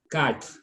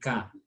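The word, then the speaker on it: quatre: As cat, not quat, okay? Because of that U is silent, so you consider the next vowel. So we say cat, okay?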